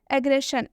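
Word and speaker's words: aggression: एन आया है और जब भी एस आए और एस के बाद से आई एन आए तो इस एस का उच्चारण किससे हो जाता है तलावे श से ठीक है अग्रेशन अग्रेशन मतलब क्या होता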